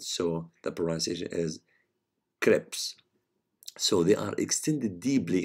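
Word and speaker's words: crypts: the t okay sorry so the t is silent so the polarization is crips so they are extended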